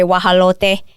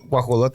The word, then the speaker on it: guajolote: So like I'll say guajalote, and you'll be like bobo, pavo, or whatever. You know, it's like all different. So yeah, Well, guajolote is a Turkey.